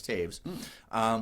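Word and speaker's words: Toews: That's how you say it, Taves. It looks like toes, but it's Taves, with the same title.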